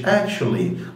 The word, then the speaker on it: actually: في العربي، فبيقولها بالانجلش actually. لاحظ ان ال T-U بيتنطق تش، فهو actually.